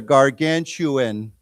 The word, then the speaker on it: gargantuan: Um, it's spelled with a gargantu- t is spelled with a with a ch sound, okay? So, it's like ch ch sound. Like, why don't we say together gargantuan?